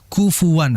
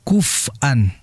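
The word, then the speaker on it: كُفُوًا: Kufuwan, hati-hati ketika baca kufuwan, dia jelaskan kaf, fa dan wanya. Kufuwan, karena memang di dalam riwayat lain, jadi kita itu dalam ilmu qiraat ada namanya qiraatul asyr ya, yaitu cara membaca 10 qiraat, yaitu ada 20 riwayat, itu bisa dibaca kuf'an. Walam yakul lahu kuf'an ahad. Juga bisa walam yakul lahu kufuwan ahad.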